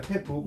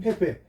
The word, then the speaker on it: 패배: 패북 맞나요? 네. 네. 근데 이걸 패북이라고 안 하고 패배라고 읽어요. 네. 패배.